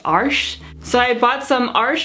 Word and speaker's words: Arches: is by Arch and it's commonly pronounced arches here in the US but I recently found out that it's actually pronounced arsh so I bought some